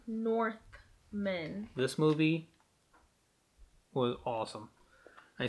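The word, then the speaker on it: Northman: Not Norsemen. Northmen.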